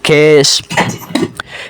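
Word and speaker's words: خویش: খেশ দেখুন লেখার মধ্যে ওয়াও এসেছে কিন্তু উচ্চারণের সময় ওয়াওয়ের উচ্চারণ হয় না, খেশ।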